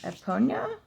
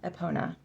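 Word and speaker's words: Epona: mother I think that's pretty straightforward we have eponia let's see epon epon there's no yeah aona it's just a aona aona h this one is aru oh aru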